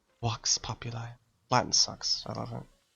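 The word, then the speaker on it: vox populi: popular it sucks because it's not pronounced Vox it's pronounced walks walks popular Latin sucks I love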